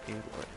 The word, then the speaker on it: Aloy: It's pronounced Aloy.